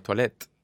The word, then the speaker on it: toilette: teyuna y al final lo que no se pronuncia es la aee al final claro toilette entonces claro no hay crisis actual está mal